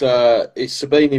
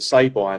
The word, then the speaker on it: Sabini: So it becomes Sabini with an I, but I always say Sabini with an I now because everyone pronounces it Sabine or Sabine and things like that.